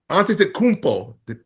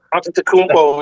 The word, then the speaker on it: Antetokounmpo: He said that if Giannis Antetokounmpo, wait, did I say it right? That should sound good though. Antetokounmpo, yeah.